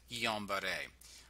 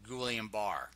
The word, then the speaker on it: Guillain-Barré: I mean, the problem is these reports, like, for example, with Guillain-Barré or Guillain-Barré, if you want to pronounce it that way, they should have caught those patterns preferably earlier the better.